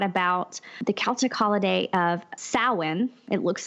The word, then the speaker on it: Samhain: wrote a lot about the Celtic holiday of sowhen it looks like it's written Samhain but pronounced soin and he wrote that it was a holiday